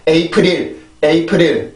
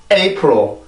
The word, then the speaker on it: April: 절대로 에이프릴 이렇게 하지 말고 April 이렇게 발음을 해주시면 돼요.